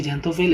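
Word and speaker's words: xanthophyll: জ্যান্থোফিলের সাথে থয়ের সাথে হয়ের একটা উচ্চারণ হয়, পড়তে গেলে দেখবা একটু ভেঙে পড়তে গেলে থয়ের পর একটা হয়ের মতন উচ্চারণ হয়।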